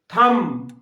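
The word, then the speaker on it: thumb: থাম, থাম্ব নয়, থাম, থাম মানে কি? বুড়ো আঙ্গুল।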